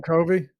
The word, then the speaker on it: Covey: at five runs okay Dylan Covey Cove a coke co Vee I have an atom in a while and I forgot his pronunciation Kofi thank you not how I would say that obviously I'm going for